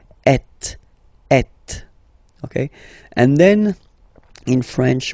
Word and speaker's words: êtes: Notice that final S is not pronounced. Et.